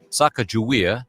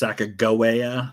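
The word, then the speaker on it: Sacagawea: famous Native American guide a lot of times you'll hear her name pronounced saaka Goa there's no like real agreement on what her name was how it was pronounced and there's also a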